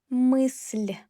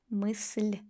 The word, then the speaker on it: мысль: Мысль, мысль, л. Not мысл, мысль.